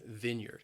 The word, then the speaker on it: vineyard: vineyard a wine vineyard the word has two syllables and the stress is on that first syllable and that first syllable it can be a little challenging because you you you have that short I sound vineyard vineyard a vineyard next is the